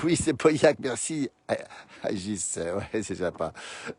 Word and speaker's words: Pauillac: C'est bien prononcé, Pauillac, oui c'est Pauillac, merci Agis, ouais c'est sympa, merci beaucoup.